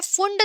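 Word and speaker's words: Pfund: Last है फुंड series, okay start P से हो रहा है बट हम उसको पढ़ते हैं फुंड सीरीज, ओके पी साइलेंट है यहाँ पर।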